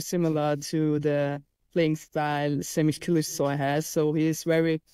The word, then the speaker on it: Semih Kılıçsoy: And today we are talking about, and I've had a lot of help from Lara with the pronunciation, I'll probably still mess it up, Semih Kılıçsoy.